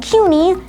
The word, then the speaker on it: CUNY: and the public university systems like suny and cuny yeah that's actually how you pronounce them are very prominent and they're world